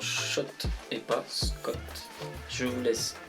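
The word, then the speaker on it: Schott: ça se passe comme si oui ça se prononce shot et poste comme je voulais vérifier une certaine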